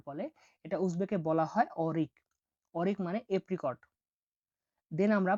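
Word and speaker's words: o'rik: পরবর্তী অক্ষরটি হলো ও, ও এর উপরে দুটা ফোঁটা এরকম চোখের মতো, তাহলে এটার উচ্চারণ হয়ে থাকে ওই হিসাবে, বাট এটা উদাহরণ আমরা দেখবো এখন। দেখুন অরিক, অরিক, অরিক মানে হলো এপ্রিকট, একটা ফল আছে উজবেকিস্তানে যেটাকে এপ্রিকট বলা হয়।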